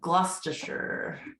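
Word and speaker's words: Gloucester: like learn how to say it too uh gluster oh I would never have guessed that Worster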